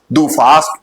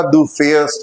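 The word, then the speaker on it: du fährst: और कभी कभी ऐसा भी देखा जाता है बच्चे उसका प्रोनाउंसिएशन भी अच्छे से नहीं करते हैं, डू फास्ट पढ़ेंगे लेकिन वो सही प्रोनाउंसिएशन उसका डू फेयर्स्ट होता है।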